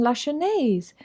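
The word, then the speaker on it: Lachesnais: pardon la chanese marjolaine la chennais you don't pronounce the middle s are you french my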